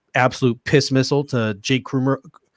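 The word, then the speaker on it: Kumerow: We had to throw that absolute piss missile to Jake Krumero. Did I say it right finally? Yeah, Kumaro, I think.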